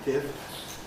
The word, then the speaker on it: fifths: So probably you ought to aim to say it in the way that keeps each sound in fifths and sixths.